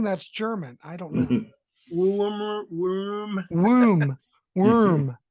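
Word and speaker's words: Würm: It's pronounced worm. Oh, the umlaut. Yeah. So you don't say worm. It's worm. Like wear 'em out. Well, if it's German, it's worm.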